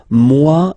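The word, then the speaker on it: moi: So remember this o e combination give you the sound wa mu.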